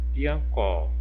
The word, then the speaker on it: piancó: Se a sílaba tônica é a última, exemplo, a palavra piancó, ó, é a última sílaba que eu pronuncio com mais intensidade, ó, mais força, piancó.